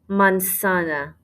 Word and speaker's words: manzana: word for apple la manzana la mansana make sure you do not say a z sound in there la mansana in orange